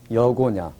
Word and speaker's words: 여고냐: 여기 보시면 야그느 이렇게 기역 니은 이렇게 됩니다. 여고냐 이렇게 발음하는 겁니다.